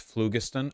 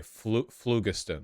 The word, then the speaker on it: phlogiston: It's pronounced phlogiston? Okay, phlogiston, my apologies.